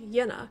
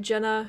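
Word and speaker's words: Jena: so kurt septon says in german the letter j is pronounced the english letter y so jenna is pronounced yenna yeah i made the mistake by calling it jenna in the last video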